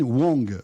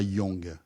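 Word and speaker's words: Huang: Alors déjà j'ai appris que c'était Jensen Wong et pas Young. On prononce pas le U c'est Wong Wang Wang.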